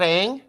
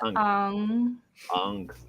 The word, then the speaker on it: Aang: That's how the character is read. Like the Chinese character is Ong. Ong. That's an actual correct pronunciation. Yeah, Ong. That tone. That's the correct pronunciation of the fucking character. Not Aang.